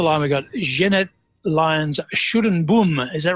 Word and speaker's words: Schuddeboom: And you need my husband to pronounce it properly. You've got to have that guttural sound happening, which doesn't sound very Schuddeboom.